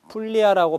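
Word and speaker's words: Puglia: 라고 부르기도 합니다 그리고 이탈리아 현지에서 는 풀리 하라고 발음을 하는데요 이탈리아 지도에서 자가 딛고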